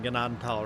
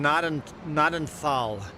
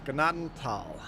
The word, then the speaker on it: Gnadenthal: They were pronouncing Gennadal right, but everybody else was saying notal. Pronounce the G. Ganaden. Don't pronounce the thign Ignore the H. Tal. Ganaden. Tal.